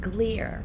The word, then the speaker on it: Glier: his name is seth gleer but he spells it g-l-i-e-r but he says it rhymes with beer that's easy to remember he's